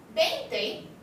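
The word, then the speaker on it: veinte: 20 is a B sound and not a V.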